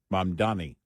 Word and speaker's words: Mamdani: Mamdani. Yes. Mm-hmm. It's just or the proper pronunciation, communist.